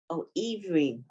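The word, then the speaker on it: עִוְרִים: ivrim. Okay, The ayin is silent.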